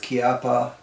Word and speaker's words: Chiappa: and a very interesting let's stick with kiapa because a fellow from italy said that's how it should be pronounced so hopefully he knows